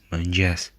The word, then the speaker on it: mëngjes: And notice that this digraph is pronounced as a palatal ja, similar to j, except that the tongue is retracted towards the palate.